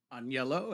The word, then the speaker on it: Agnello: I'm Agnello, or Agnello, as I've been introduced.